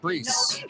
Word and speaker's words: Brees: I think it's pronounced Brees.